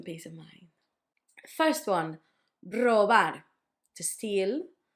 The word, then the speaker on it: robar: First one, robar, to steal. The tricky bit was to know that the first one was a hard one, r, and the last one was soft, r, robar.